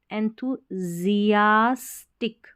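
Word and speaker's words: enthusiastic: है, पेशेंट रहें, और EN को N पढ़ना है, THU, एंथू, अब इसको एंथुजियास्टिक ऐसे पढ़ना है, SIAS, इसको जियास करके पढ़ देना और फिर टिक, एंथुजियास्टिक, यानी उत्साहित, हम धैर्य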